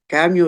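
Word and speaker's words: Camus: சுருக்கத்தை மட்டுமல்லாமல் அதனுடைய பின்னணி ஆல்பர் கேமியோ குறித்து தயவுசெய்து நாயகர் அவர்கள் என்னை மன்னிக்க வேண்டும் அது கமுய் என்று நீங்கள் உச்சரிக்க வேண்டும் அப்படின்னு சொல்வாரு ஆனால் அது பழக்கத்தின் காரணமாக ஆல்பர்ட் கேமியோ குறித்து அப்படின்னு நான் பேசுறேன் விவேகானந்தன் அவர்கள் அதனுடைய அந்த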